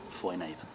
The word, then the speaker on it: Foinavon: Foinavon, I should be saying Foinavon. Well, that's kind of how they say it up there. It's like Foinavon, almost like a B as well.